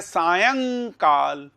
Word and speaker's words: सायंकाल: सायंकाल, इसका उच्चारण सायंकाल नहीं है, सायंकाल नहीं है, ये सायंकाल। सायं, यह के ऊपर बिंदी है, सायंकाल इसका उच्चारण यह है।